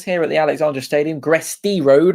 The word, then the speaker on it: Gresty Road: Gresty Road, not Gressley Road, which I've been saying it wrong for quite some time. But it's Gresty Road, live from Cheshire here on Fournilwrittenalloverit.